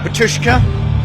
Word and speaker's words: Batushka: I saw a bit of Batushka.